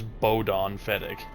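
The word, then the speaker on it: Bodahn Feddic: that bod Dan's boy don't you know how to pronounce his name he even introduces himself as bodon fedck alello unbelievable I'd really like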